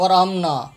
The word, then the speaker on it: وارحمنا: ہم، حامیم زبر ہم، یہ ہا زبر ہا آپ کو بتا رہا ہوں کہ یہ ہا ہے، الف نہیں ہے، ورحمنا نہیں ہے، ورحمنا الف نہیں ہے، الف کی آواز لوگ تلفظ غلط پڑھتے ہیں، الف کی آواز نکالتے ہیں، ورحمنا ورحمنا، حامیم زبر